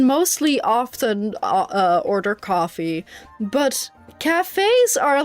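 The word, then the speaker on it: café: And also, you have to put the accent on the cafe, on the E. Otherwise, it's cave. Cafe has an accent.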